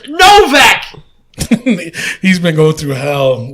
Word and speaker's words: Novak: Because it's Novak.